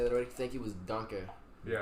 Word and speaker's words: danke: Thank you was danke. Yeah. Donka. Yeah. Donkey.